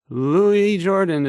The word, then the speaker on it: Louis Jordan: Louis Jordan is up next. It's spelled Lewis, but don't be fooled.